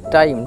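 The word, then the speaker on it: time: তাহলে সারপ্রাইজ যার মানে হচ্ছে বিষয় তারপরেরটি দেখো টাইম দেওয়া আছে টি আই এমই টাইম টাইম মানে হল সময় এর উচ্চারণটা দেখো টি আই টাই কারণ টিটার জন্য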